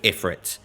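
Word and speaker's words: Ifrit: fight literally straight away which is with iFit which is the correct pronunciation and not that Final Fantasy 16 where it's eph awful anyway we're fighting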